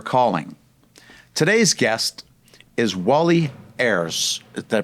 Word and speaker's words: Ayres: Today's guest is Wally Ays. Did I pronounce that right?